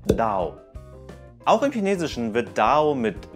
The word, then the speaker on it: Dao: Denn die chinesische Aussprache für Do ist einfach nur Dao.